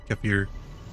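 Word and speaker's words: kefir: he said oh okay so it is more like keer keier not exactly sure how to pronounce that k e f i r why they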